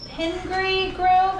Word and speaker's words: Pingree Grove: They also have a trifecta of children and live in Pingree Grove. Is this how we pronounce this? Pingree. Pingree Grove, the northwest suburbs.